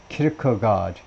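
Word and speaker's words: Kirkegaard: 제이콥 키르카드 이거 이 정도 스웨덴 이름 이 정도는 발음할 수 있어야 하는데 앞에다 액센트를 두고 키르카드 제이콥 키르카드라는 사람이 말하는데 시니어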